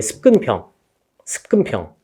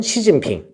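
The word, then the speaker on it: 習近平: 습근평. 우리나라 말로는 중국어로는 시진핑. 중국어 하시는 분 없냐? 중국어는 사성조라서 소리에 따라 중국어 하는구나. 어렵죠? 그러니까 뭐 시진핑 뭐 이렇게 하겠지. 우리나라는 습근평이라고 한다.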